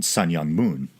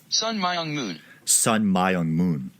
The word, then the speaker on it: Sun Myung Moon: but a ar-15 alright so I looked up how to pronounce it so there's this pronunciation although if you can hear that sounds like someone saying son young moon that's the way I always heard it growing up then there's this one son my own moon I might go its son young moon I'm not going to